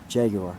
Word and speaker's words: Jaguar: Yeah, Jaguar. Jaguar.